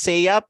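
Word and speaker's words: SSEAYP: us um say yeah so that's how to pronounce it it was a hard time for me to pronounce a while ago s s e a y v so it's just say up or a ship for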